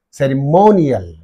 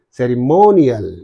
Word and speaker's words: ceremonial: have to say artificial ceremonial cial of I is in these two syllables so what is the syllable preceding the suffix mean more therefore you say ceremonial what do you say ceremonial right and here confiden